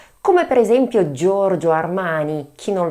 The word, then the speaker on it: Giorgio: Third name: Giorgio. I repeat: Giorgio. Warning! GIO is pronounced Therefore, George. Such as Giorgio Armani Who does not know of him?